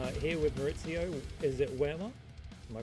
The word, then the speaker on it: Weimar: Is it Weimar? Am I pronouncing that right? Weimar.